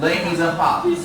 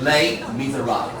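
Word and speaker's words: Les Misérables: 这是认真的，要稍微念一下。英文的念法呢，les miserables。可是呢，没有人会一眼法文，对不对？这个地方法文的 R 的发音会念成 ha 的音。So like here, in the clip, les miserables, But here now, we can just follow the way of the English language that speaks it.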